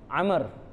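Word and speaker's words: عمرو: Amrin tu baca dia Amr. Fudail ibn Amrin tu Amr. Ejaan dia Ain Mim Ra Waw. Amr.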